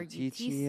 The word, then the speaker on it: Eutychia: It's e u t c h i a, Eutychia. Yeah, or Eutychia.